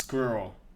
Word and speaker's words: squirrel: The word squirrel, I thought nothing of this pronunciation. Squirrel. I just assumed everybody said it pretty much like I do now. Squirrel, squirrel. And then I realised how Americans say it, and it's more like squirrel, which kind of sounds like you're pronouncing the word squirrel with a bunch of nuts in your mouth, which is what squirrels